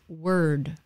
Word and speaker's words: word: about like the word word um it's that er sound it's difficult if you can't say an r at the end of a word word word okay i think they